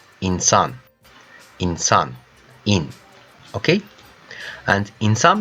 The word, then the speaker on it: insan: And how we pronounce? Inside, insan. İnsan.